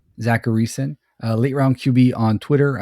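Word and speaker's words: Zachariason: How you pronounce it? Zacharyson. Zacharyson, late round QB on Twitter.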